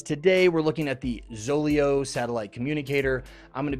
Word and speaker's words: Zoleo: when I saw this word guys instead of zolio I pronounced it zolayo and so this entire video you're going to hear me saying zolejo now to me it's a little more appealing